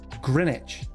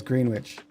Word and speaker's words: Greenwich: It's pronounced Greenwich. It says Green Witch.